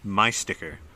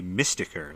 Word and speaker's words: Mystiker: This is, you know, literally this is this is me mispronouncing uh my sticker. It's supposed to be Mystiker, like Mystic Sticker, but my brain didn't read that cuz there's like a dash in the word or something.